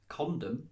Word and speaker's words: condom: But condom, it's the word con and the word dom.